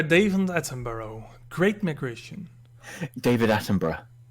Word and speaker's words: Attenborough: David Attenborough. Attenborough. Attenborough. Well, there's O's in there. which you just I know. Yeah, well, it's a British name. Sometimes you don't pronounce it.